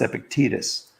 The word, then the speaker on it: Epictetus: p i c t a t u s pronounced epictetus i understand um you might want to check